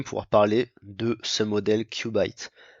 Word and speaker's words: Qubit: parler de ce modèle Cubite, que je vais prononcer à l'américaine parce que prononcer à la française, le nom est un petit peu vulgaire, disons.